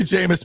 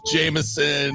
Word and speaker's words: Jameis: That's part of the Jameis magic. Is the people that still mispronounce his name. Like that, still think it's Jameson.